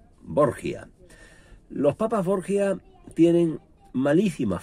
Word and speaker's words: Borgia: llamaba civilmente rodrigo borja pero al trasladarse a italia se cambió la pronunciación del apellido y quedó como lo hemos conocido borgia los papás borgia tienen